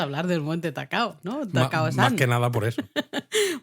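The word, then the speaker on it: 高尾山: Que, por cierto, ¿tú sabes cómo se dice en japonés el Monte Takao? Atacao. No, No sé. Takao-san. Ah, Takao-san.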